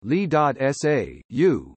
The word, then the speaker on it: Lissajous: In orbital mechanics, a Lissajous orbit, pronounced Li.SA.U, named after Jules Antoine Lissajous, is a quasi-periodic